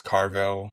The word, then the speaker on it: Carville: so-called liberals specifically people like Gavin Newsome James Carville, that's how you pronounce his name, and others who were seemingly